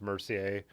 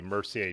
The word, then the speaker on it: Mercier: looks like mercy or i'm assuming it's pronounced mercier with the french pronunciation or but um so